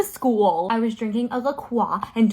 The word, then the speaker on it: La Croix: And don't tell me I'm saying it wrong. That is how I like to say it. Suppose me calling it La Croix is the same energy as someone saying, I'm going to Paris.